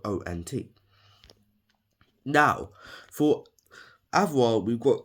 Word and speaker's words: ont: Remember that T is silent, even though it's spelled O-N-T.